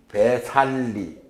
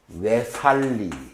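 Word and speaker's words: Vesālī: 나중에 중간에 가서 이제 갱지스 강도 지나고 북쪽으로 쭉 가다가 어디에 어느 도시에 이르는가 하니 영어식으로 읽으면 배살리, S가 빠졌네. 영어식으로 읽으면 배살리라고 읽지만 빨리어식으로 읽으면 외살리.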